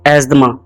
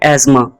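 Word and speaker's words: asthma: है jewellery jewellery again दोस्तों सांस लेने की एक बीमारी होती है जिसको इंग्लिश में लोग गलत प्रोनाउंस करते हैं और कहते हैं एजमा एजमा लेकिन इसकी करेक्ट जो प्रोनंसिएशन है वह है एस्मा एजमा एजमा दोस्तों यह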